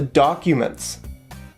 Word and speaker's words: documents: so where are the documents right here we have a stress on where and a stress on the first syllable in the word documents so where are the